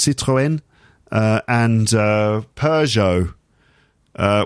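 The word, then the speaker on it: Citroën: renault we talk about citroen uh in french it's citroen uh and uh peugeot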